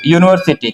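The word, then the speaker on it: university: तो इसका उच्चारण अगर करेंगे तो यू, यूनिवर्सिटी, तो यू कहां से आएगा, क ख ग में से आएगा, इसलिए इसके पहले क्या लगाएंगे, ए यूनिवर्सिटी हो गया।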